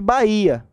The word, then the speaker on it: Bahia: É diferente de Bahia, com H. Você não pronuncia o H, você pronuncia o I. Então o H não conta.